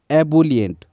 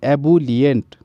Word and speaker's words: ebullient: High spirited हो जाएगा, और क्या हो जाएगा, एबुलियंट, जोशीले को बोलते हैं एबुलियंट, EBULLIENT, एबुलियंट।